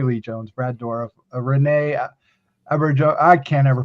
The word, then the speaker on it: Auberjonois: Cast includes Faye Dunaway, Tommy Lee Jones, Brad Dourif, Renee Auberjonois. I can't ever pronounce his last name. Auberjonois.